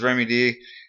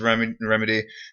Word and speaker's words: Remy D: Okay, so Nestle versus Remy D. Or Remedy. Always call him Remy D just because the way it's spelled. But anyway, Nestle versus Remedy.